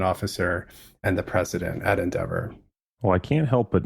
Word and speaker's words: NDVR: In February 2020, I left AQR and joined Endeavor. It's spelled NDVR. It's devoweled because we're a modern wealth optimization firm.